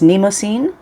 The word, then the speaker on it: Mnemosyne: a brand uh that if I'm saying it correctly, and I I think this is how I've heard other people say it is Neimosine.